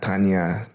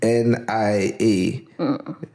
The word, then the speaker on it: TNIA: Some people don't pronounce it properly. Most people don't pronounce it properly. So some people are like TNIA, Tanya, Tina. Tell them now how to say it. TNIA. Yeah. So Because it's initials.